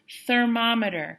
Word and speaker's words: thermometer: Morris thermometer make sure you stick your tongue out for that th sound at the beginning thermometer yeah does anybody